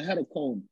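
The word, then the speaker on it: hecatomb: call it a headache we call it a head of Comb that's spelled h-e-c-a-t-o-m-b and I know there's enough dictionaries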